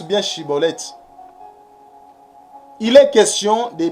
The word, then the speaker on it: Schibboleth: Il est question de bien prononcer. La prononciation. Chibolette. Mais non Cibolette.